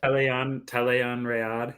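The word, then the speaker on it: Tel'aran'rhiod: Talayan, is that how you say it? Yeah, that's how the book says it at least. Talayan Rayad.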